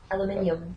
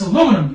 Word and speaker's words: aluminium: Aluminium. Yes. Wait, what is it? Aluminium? Aluminium. That's Aluminium. Aluminium. Aluminium. What? I had to go, what? It's aluminum, you ass.